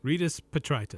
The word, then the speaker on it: Rydas Petritis: Rydas Petritis.